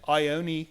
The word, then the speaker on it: Ione: Like I own a Mercedes. That's right. I own a castle.